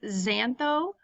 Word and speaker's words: xantho: the last one is xantho the X is pronounced as a Z and that would be